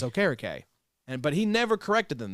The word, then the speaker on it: Okereke: It won't matter for me, Well, they also mispronounce Bobby Okereke. Now, to be fair, What'd he they say? never corrected. That's what they used to say was Okereke. And he says, okay. It's Okereke.